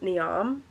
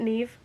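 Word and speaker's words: Niamh: out there right now I have been saying this as neam it's not anyways this the next book is more than enough by neive is it Neeve that's what the pronunciation said I said it and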